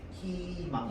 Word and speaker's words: 희망: 그래서 희망 이러면 무조건 희망 이렇게 발음해야 돼. 흐이망이라고 하면 안 돼.